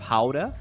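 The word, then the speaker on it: Gouda: oh okay okay asz most people say guda cheese instead of Howa uh but I guess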